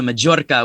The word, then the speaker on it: Majorca: I do the Majorca with a hard J sound because we spell it with a J.